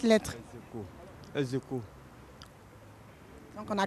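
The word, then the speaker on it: ex aequo: Donc, ça se lit Aeco. Enfin, ça s'écrit Aeco, mais ça se lit Execo.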